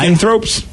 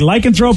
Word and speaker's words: lycanthrope: so it's You're putting the emphasis on the wrong syllable, guys.